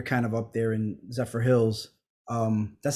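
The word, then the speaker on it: Zephyrhills: Sharon, you're kind of up there in Zephyr Hills.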